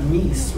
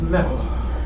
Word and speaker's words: mess: It's not meese, right? It's mess.